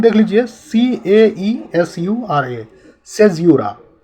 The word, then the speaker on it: caesura: देखिए, English literature में poetry को ध्यान में रखते हुए सेज़्यूरा क्या होता है, इस वीडियो में आज हम लोग जानेंगे।